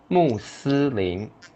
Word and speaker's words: 穆斯林: And in Chinese, the pronunciation is similar because that's a translation from English Muslim. So let's do it. 穆斯林 Muslim.